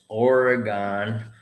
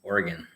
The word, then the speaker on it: Oregon: bought it it says oregon but when i did my teaching in oregon i got corrected it's not from oregon it's oregon oregon oregon but hey look people